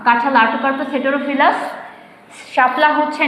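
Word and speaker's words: Artocarpus heterophyllus: যেমন ধান, দেখো আমি জাস্ট স্পেলিংটা ইয়েটা বলে দিই, উচ্চারণটা বলে দিই, প্রোনাউন্সিয়েশন। ওরাইজা sativa, ওরাইজা sativa. পাট হচ্ছে কোচোরাস ক্যাপসুলারিস। আম ম্যাঙ্গিফেরা ইন্ডিকা, কাঁঠাল আর্টোকার্পাস হেটেরোফিলাস।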